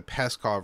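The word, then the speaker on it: Pskov: seem that this region, the attack in the Peskov region in particular, and I hope I'm pronouncing that, it is spelled P-S-K-O-V.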